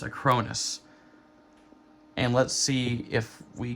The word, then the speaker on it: Acronis: It's pronounced Acronis.